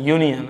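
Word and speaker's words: union: और दूसरा देखें यू एन आई ओ एस यूनियन है ना तो यूनियन ओनियन नहीं होता क्या यूनियन यूनियन को समझने का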